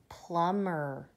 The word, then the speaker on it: plumber: that out what about plumber do we say call the plumber know that B is a silent B it's not a plumber it's a plumber that B does not say anything at all now this word says